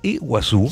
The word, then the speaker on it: Iguazú: decir agua y guasú es grande claro entonces iguasu quiere decir agua grande del mismo modo que